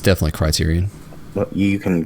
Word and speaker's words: Criterion: And EA will move Need for Speed development back to Centurion. Criterion. I always say Centurion.